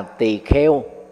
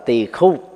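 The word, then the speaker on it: tỳ khưu: niệm sa môn và tỳ kheo là gì? Tỳ kheo là cách đọc trại âm của người miền Nam, đọc theo âm chuẩn của miền Bắc là tỳ khu, chỉ cho tu sĩ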